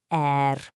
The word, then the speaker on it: 而: The third character is er, pronounced er.